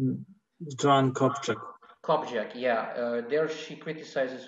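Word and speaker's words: Copjec: It's Joanne, maybe Krzysztof can, the last name, I can't remember how you pronounce it. Joanne Kopczak.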